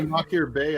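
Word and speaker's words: Machir Bay: This is the only Makir Bay I've ever had.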